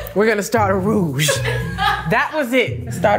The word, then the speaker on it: roux: going to start a rouge that was it let's start a role okay baby the x is silent oh i see like faux fur yes very much like